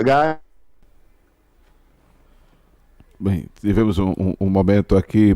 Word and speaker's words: Guy: Um canadense chamado Guy, não é gay, não é Guy. É por pronúncia, Guy.